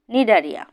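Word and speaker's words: Cnidaria: এখন আমরা পর্ব দুই নিডারিয়া নিয়ে আলোচনা করব এখানে দেখো নিডারিয়া বানানটি কি রয়েছে নিডারিয়া বানানে প্রথমে সি রয়েছে আমরা বানানটি এভাবে করবো সি এন আই ডি এ আর আই এ নিডারিয়া নিচে দেখো নিডোসাইট নিডোসাইট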